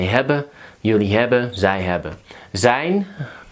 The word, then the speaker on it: zijn: Zijn, so the IJ is I.